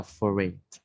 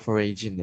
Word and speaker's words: foreign: Tadi kakak ada salah pronounce di kata foreign. Kakak foraging ya.